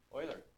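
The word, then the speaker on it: Euler: is always given to us by that formula Oiler that's how you say it though wait how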